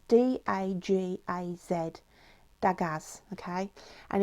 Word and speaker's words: Dagaz: what I pulled out was, it's pronounced, I'll spell it, it's D-A-G-A-Z, Dagaz, okay, and it's means a new dawn, awakening and awareness, okay.